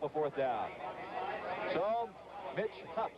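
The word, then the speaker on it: Hoopes: fourth down so Mitch hups we understand it's hups not Hoops that's the way his mother wanted to pronounce number nine will go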